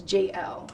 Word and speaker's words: Jayel: want to just be an issues but it's pronounced as JL so you did the Draco before Draco yeah